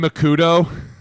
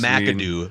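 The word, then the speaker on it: McAdoo: How about Ben Makudo? I mean, you you could go down the list of coaches. Madoo.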